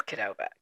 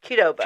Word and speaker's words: Qdoba: It is Kedoba. Take that note, kids. Kedoba.